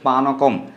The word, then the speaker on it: পানকম: শ্রী কৃষ্ণদেবের প্রিয় এদিকে অনেকে পণকম বলে থাকে কিন্তু এটার উচ্চারণ হচ্ছে পানকম এবং শ্রী হরিভক্তি বিলাসও